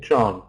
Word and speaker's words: John: need to have John we need to have o in John if you've got a